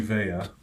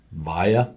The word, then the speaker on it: Vea: Okay, we've said Sione Vea, and he's answered to it and all that, but he says it. Via. Okay, Via.